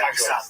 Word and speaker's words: Dagestan: I didn't say I was going to Dagestan. Okay. I assumed you were. Yeah, it's actually pronounced Dagestan.